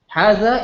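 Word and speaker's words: هذا: This word, which means this, hadha, is written without this long alif here.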